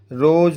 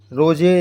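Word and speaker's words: rose: नहीं बोलेंगे नाइन बोलेंगे रोज होता है है ना रोज में रोजे या रो रो से नहीं बोलेंगे रोज बोलेंगे तो इस प्रकार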